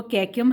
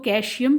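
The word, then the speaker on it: caecum: सबसे पहला पार्ट जो है वो कैक्यम है, कुछ लोग इसको कैशियम भी कहते हैं, आप कुछ भी कह सकते हैं, pronunciation is different in the different parts. तो कैक्यूम, मैं इसको कैक्यूम कहती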